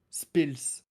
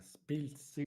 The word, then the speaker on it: Spiltz: Spills. Ah, Spiltz. Okay. Yeah. Me personally, I always said it like that. I know it's a Z, but I pronounce it like a Pils.